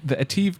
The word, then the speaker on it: ATIV: How were they pronouncing it? Ativ. Ativ. I think it's Ativ. Like active? Yes, like active.